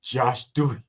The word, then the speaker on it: Josh Dewey: Yeah, actually, it rhymes with Hawk Tui. It's Josh Dewey.